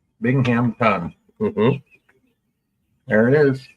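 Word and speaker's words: Binghamton: today wow binging the I how do you spell that b i n g h m t o n Bingham ton there it is B to the YK I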